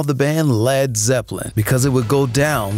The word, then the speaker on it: Led Zeppelin: to call the band Led Zeppelin, changing the spelling from L-E-A-D to L-E-D because he worried people would mispronounce the first word.